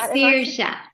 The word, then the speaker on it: Saoirse: Hi, it's Saoirse. Saoirse. Oh, beautiful. Saoirse. So think like Irish a seer and a shaman.